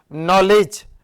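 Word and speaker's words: knowledge: bold मारना कैसे कि इसमें के साइलेंट अरे मेरे भैया इसमें डब्लू भी साइलेंट है हम के दिख रही है साइलेंट देखें इसमें डी भी साइलेंट है एक के दिख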